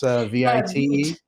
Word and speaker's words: Vite: Is that how you pronounce Vite? Yeah, it's French. I thought it was Vite for the longest time.